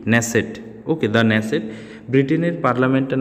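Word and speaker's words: Knesset: নাম কি হচ্ছে দা নেসেট ওকে এর উচ্চারণটা কে এন ই এস এস ই টি নেসেট okay the নেসেট ব্রিটেনের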